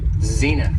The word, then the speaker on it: zenith: the next noun is Zenith has two syllables and the stress is on the first syllable Zenith and when talking about